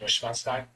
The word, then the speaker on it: Neuschwanstein: It's like, and like I said it in its German pronunciation, Neuschwanstein.